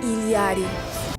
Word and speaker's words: Illari: The first thing we should talk about with this hero is the pronunciation of her name. I am Illari.